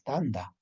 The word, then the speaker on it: tanta: Si yo le voy a pronunciar tanta ya se refiere a pido de persona. Por lo tanto, escritura es tanta, pero la pronunciación es tanda.